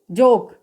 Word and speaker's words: joke: ओ आ रहा है तो इसका उच्चारण क्या हो जाएगा? ओ का ओ होगा। तो JOKE, जोक।